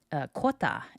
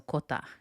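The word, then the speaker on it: クォーター: Kota is not unlike hafu in that it's really just the English word for quarter pronounced in a Japanese way and has been adopted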